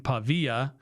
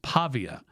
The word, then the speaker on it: Pavia: I keep saying Pavilla as if it's like a uh Spanish name like the the two L's and like tortilla, but it's not.